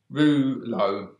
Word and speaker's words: Reuleaux: other this now which is the thinking is pronounced rouleau rouleau from there or EU l e 8u